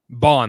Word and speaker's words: Bond: Bond, like James Bond, B-O-N. Bond.